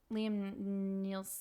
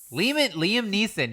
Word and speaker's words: Liam Neeson: Oh, is this Liam Nielsen? Liam Neeson, yes. I say Liam his- Nelson. Is it Liam Nelson? No. I say his name wrong every time.